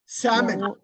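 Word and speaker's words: salmon: எல் எஸ் ஏ எல் சாமன் எஸ் ஏ எல் எம் ஓ என் எல் வந்து சைலெண்ட் okay அதையும் இது பண்ணி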